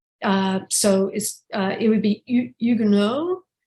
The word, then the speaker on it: Huguenot: An initial H is not pronounced in French. So it would be Huguenot, not Huguenots.